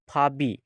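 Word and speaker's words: 밥이: है यह फप ई तो जब इसको प्रोनाउंस करना है जो इसकी साउंड है वह बनती है फबी लिखेंगे फ ई लेकिन इसको पढ़ेंगे फबी इसी तरह अब छक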